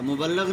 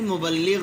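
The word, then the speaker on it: مُبَلِّغ: محقق، مروج، مرتب، مؤلف۔ اور غلط ہم کیا بولتے ہیں؟ وہ بہت بڑا مبلغ ہے، مبلغ نہیں مبلغ ہوتا ہے۔ اسی طرح محقق، ریسرچ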